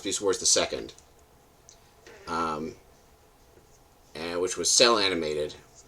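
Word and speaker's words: Beast Wars II: They pronounced Beast Wars the Second.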